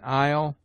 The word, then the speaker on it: isle: S is mute in isle, island, domain, viscount.